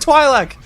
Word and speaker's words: Twi'lek: he said it right that's incredible he said twi'lek came and confirmed it is Twi'lek I always